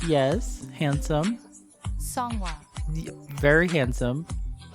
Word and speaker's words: Seonghwa: pronounce their names. Hi, my name is Seonghwa.